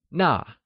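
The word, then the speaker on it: 那: That translayesas Nà whixh is also pronounced using the falling tone! Try and say Nà ,its like Nà !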